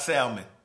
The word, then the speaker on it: salmon: oh anyway it's not salmon it's salmon the l is silent so yeah we'll see